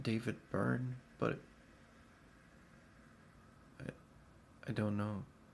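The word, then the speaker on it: Byrne: David Brian, is that how you say his name? Burn. David Burn.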